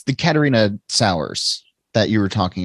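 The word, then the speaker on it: Catharina: I mean, Stephen, it's the Katerina sours that you were talking about, and right? Am I pronouncing that correctly?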